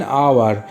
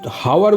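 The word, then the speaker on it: hour: অ্যান আওয়ার, এখানে এইচের হাওয়ার বলি না আমরা, এটাকে আওয়ার বলি, এইচের উচ্চারণ আয়ের মতো হচ্ছে, তাই এখানে অ্যান হলো।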